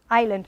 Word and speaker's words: island: Island. In English we have something which are silent. I could put 5 million here. I chose a few, but island is a typical one, yeah?